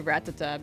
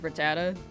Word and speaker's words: Rattata: I used to say Ratata because that's how the the the the TV show the anime said it and then eventually I heard Rattata enough times and was like am I have I been saying it wrong so I swapped but no I think both are right.